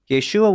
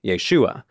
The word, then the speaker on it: Yeshua: complicated than that and the complication comes from that final syllable the uh part of Yeshua for those of you Hebrew Bible and Aramaic experts in the audience you know I've been playing a bit fast and loose with that pronunciation Yeshua is spelled with four letters in Hebrew and Aramaic yod Sheen VAV and Ein read from right to left and without vowels that